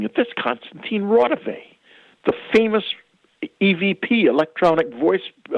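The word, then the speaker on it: Konstantin Raudive: And I thought, wait a minute, he was mispronouncing it. That's Konstantin Rodovay, the famous EVP, electronic voice communications scientist who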